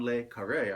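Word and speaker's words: le Carré: yeah it's john lay john layke array i believe is how it's pronounced that one has tom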